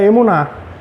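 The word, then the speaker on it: אמונה: E no hebraico se pronuncia emuná e remete a firmeza, estabilidade e lealdade, frequentemente traduzido como a atitude de confiança ativa.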